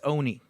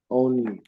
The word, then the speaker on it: Oni: I used to say, but now I know it's Oni. Oni.